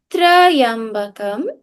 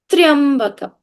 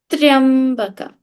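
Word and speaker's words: त्र्यम्बकम्: This tra does not have an a. So it's not Trayambakam, it is Triambakam. There's a difference in the pronunciation or not? Triambakam.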